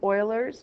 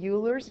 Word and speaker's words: Euler: gonna probably mispronounced this it's probably Oilers but I like to say Euler's just sounds better but okay